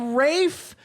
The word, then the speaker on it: Ralph: amazing in it m your first name is spelled r a l pH and people are commenting on the internet at me because your name is spelled Ralph and you're pulling you're taking this lower case eye and putting a line in it and making it a like stting as l and an i Rafe with an l no